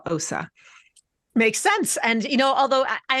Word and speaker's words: Ossa: And it was when we came to America that my parents changed my name from to what it is now, Ossa.